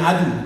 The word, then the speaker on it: Adoe: Seperti saya, Adoe. Bacanya Adu.